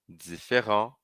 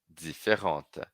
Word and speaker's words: différent: E aí, então, eu estava falando que o différent, como termina em T, aquele T que eu não pronuncio no masculino, e aí eu vou pronunciar no feminino, né.